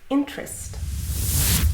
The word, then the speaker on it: interest: One is interest. Can I interest you in learning English? Interesting, that's interesting. So the first one is two syllables, in-terest.